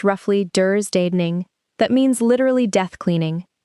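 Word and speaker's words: dödstädning: And there's a Swedish word, pronounced roughly "dursdaning," that means literally death cleaning, and it explains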